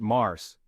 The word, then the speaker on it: Mars: is March or Mars in French we pronounce it Mars spring is in full